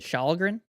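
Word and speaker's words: Källgren: Starts with a K, but you don't pronounce the K. I think Shalgren.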